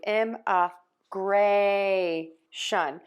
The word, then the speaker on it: immigration: Now if we have immigration, we do know that we need to change that syllable stress. If you've watched my videos you for sure know that. And then we are going to move to ima grey shun Because remember, you always stress the syllable right before the shun.